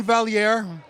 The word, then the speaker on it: Valliere: Well, there's a few pride, but Iain Valliere.